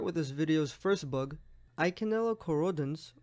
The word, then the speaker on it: Eikenella corrodens: this videos first bug eikenella corrodens or like some people like to pronounce it Iike knell accordance anyways title of the